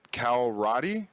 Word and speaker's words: Cal Roddy: star jump Grim um is it Cal Roddy is that how I pronounce that yes it is hey that's a great